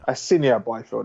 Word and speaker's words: Asinia Byfield: I'd have to say Cheeseman and Asayan Byfield. Is that how you pronounce it? Asinia Byfield.